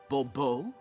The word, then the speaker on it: Bobo: fine Monsieur de Bobo the emphasis falls on the last syllable Bobo mm-hmm see now I'd